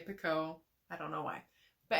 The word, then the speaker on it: Picoult: Jodi Picoult, or however you pronounce her last name. I say Picoult.